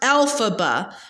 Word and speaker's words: Elphaba: of the West has a name alphaba it's pronounced alphaba with a pronunciation on the first of the three syllables the way Dorothy is and for that matter Margaret and Hamilton too the best per coincidence alphaba a name derived from the initials of the